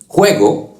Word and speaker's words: juego: Just keep that throat sound strong like this. Juego, jirafa, jugo, Jorge.